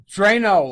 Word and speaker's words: Dranow: Drano like liquid plumber.